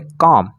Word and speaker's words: comb: एक और एग्जांपल लेते हैं, जैसे COMB, तो यहाँ पर बी है लेकिन इसके बाद कोई और अक्षर नहीं है तो यहाँ पर हम बी साइलेंट रखेंगे और इसको पढ़ेंगे कॉम, इसको पढ़ेंगे कॉम। कॉम मीन्स होता है कंघी, तो कुछ लोग इसको कॉम्ब कॉम्ब पढ़ते रहते हैं।